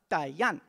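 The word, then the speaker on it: Atayal: have the glottal stop, Atayan. The L at the end of the word is pronounced like an N, or a mix of LN.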